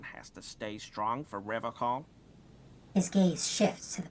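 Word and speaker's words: Revachol: He pronounces Revocol with a hard K, unlike other people. Indeed. You said Revocol? I like to pronounce it the hard way.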